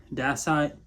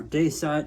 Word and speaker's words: dacite: The stuff works really similar to dacite or dacite, depending on how you say it.